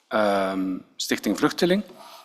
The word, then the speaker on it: Stichting Vluchteling: And of course, one of the questions I'm asking him is like, well, why would you support Stichting Vluchteling?